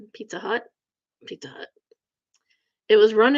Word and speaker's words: Pizza Hut: Rhymes with nut. Pizza Hut.